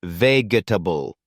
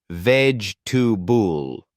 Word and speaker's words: vegetable: It's not veable. It's veg to bull.